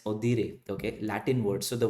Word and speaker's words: audire: Okay, so it says the word audit originates from the Latin word, and because it's a Latin word, audire, we pronounce it as audire.